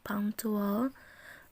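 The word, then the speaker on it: punctual: sedang melihat jam atau pangcu olya pangcu wow kita bacanya punk tool bank soal itu artinya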